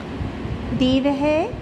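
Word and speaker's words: देवः: से लन करते हैं उससे ही देवह विसर्ग आएंगे ऐसे ही उच्चारण होगा देवह देवह देवहा देवम देवह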